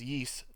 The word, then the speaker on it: Ys: on steam the the it's spelled YS butts pronounced yeast the yes alright origin